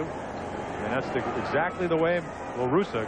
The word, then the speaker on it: La Russa: La Russa, excuse me, not Russo.